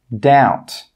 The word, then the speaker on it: doubt: The second rule with B is that B is normally not pronounced when it comes before the letter T. Some common examples are debt, subtle, doubt. Again, you can see here that we're not pronouncing the B in all of these words.